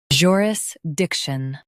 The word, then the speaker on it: jurisdiction: joo uh ris dic shun joo uh ris dic shun joo uh ris dic shun joo uh ris dic shun In US, stress dic.